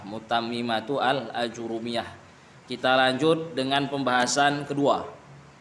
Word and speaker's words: متممة الآجرومية: Jadi pengucapannya bil idhafah Ustaz ya, Mutammimatu Al-Ajurumiyah. Kalau sebelumnya dengan ya wasaf Al-Mutammimah itu salah. Mutammimatu Al-Ajurumiyah.